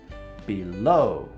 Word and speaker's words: below: Away, below. The stress is on the second syllable.